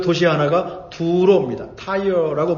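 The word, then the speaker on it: Tyre: 타이어라고 발음하죠.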